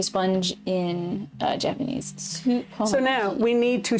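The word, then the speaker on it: スポンジ: Supponji is how you say sponge in Japanese. Supponji.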